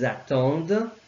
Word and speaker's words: attendent: And elles in this case, elles attendent. I'm pronouncing the E but not the rest.